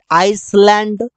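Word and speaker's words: island: eyelet no की eyelet आइसलैंड इस प्रकार से नहीं बोलते मतलब कि अगर एस के बाद एल आता है तो एस नहीं बोलते हैं जब एस एफ के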